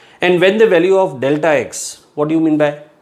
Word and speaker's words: delta x: Very often people pronounce this as del x, but it is delta x.